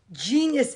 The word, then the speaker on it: genius: Yes, genius is also G, and it's a soft G sound.